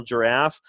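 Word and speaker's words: Jirav: as in Victor but it's pronounced like the animal giraffe I have now I'm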